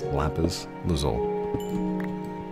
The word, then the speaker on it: lapis lazuli: And that takes enchantment and lapis lazul or as my daughter says, lapis lazuli. No, no, no. You said it wrong. It's lapis lzole.